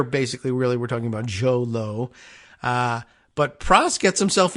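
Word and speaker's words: Jho Low: h o low l-o-w which made me think I'm like does it really rhyme as a Joe low is it Lao but all the pronunciation guides I went and checked all the pronunciations you know I'm looking at the Articles and or videos and interviews and places where they mention the name they say Joe Lowe is his name he's the Malaysian businessman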